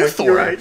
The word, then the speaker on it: Luthor: It's not Luther, it's okay, Luthor. You're right. You just have to put the emphasis on a different syllable.